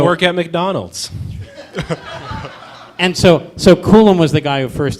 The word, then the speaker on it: Coulomb: And so what's this Coulomb barrier? Am I pronouncing that?